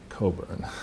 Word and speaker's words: Cockburn: be modeled on but this is Cockburn it's pronounced Coburn is it yes in polite company sorry sorry